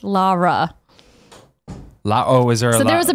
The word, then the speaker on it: Lara: And they said Lara. Yeah. So, but Lara. If you look at the video game, though, characters in the game say her name differently. What do they say? Like Laura, some of them say it as Lara Croft.